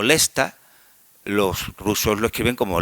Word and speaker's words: Leicester: En en un idioma como el inglés no no tanto, porque yo qué sé, una palabra como Leicester, que se pronuncia como Lesta, los rusos lo escriben